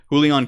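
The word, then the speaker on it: Julián: the first time and the Jay sounds like an H okay thank you perfect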